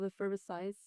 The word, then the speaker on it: Effervescience: Effervescience. Science. At least that's how I say it.